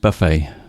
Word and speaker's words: buffet: eat it means like buffet restaurant maybe you are yeah it's pronounced Buffet uh Buffet ah b u f t but it's pronounced Buffet I imagine it's a French word we called it buffet